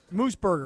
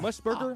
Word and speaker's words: Mooseburger: Mooseburger. Not like Musburger, like Brett Musburger? No, not Brett Musburger.